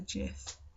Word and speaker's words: GIF: is pronounced and actually it's pronounced with a soft g so i should be calling it a gif instead which i didn't